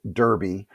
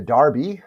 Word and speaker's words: Derby: Now, if you're not familiar, it's spelled Derby, but they pronounce it over in England as a derby.